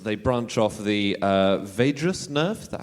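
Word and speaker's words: vagus: in all mammals they Branch off the uh vadas nerve that how it's pronounced Vegas ner oh that's good to know because we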